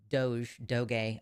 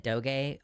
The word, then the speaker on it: DOGE: Congress approves the budget, and this already illegal Doge. I've always said Doge, like when I read it, but I think that people are pronouncing this Doge, so I will consider it separate from the meme.